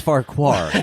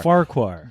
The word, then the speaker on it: Farquhar: bar quarter no no it's pronounced Farquhar I mean we swear here but it's usually not that late oh it's not war yeah no it's not it's four Oh far our Farquhar notice to the Christmas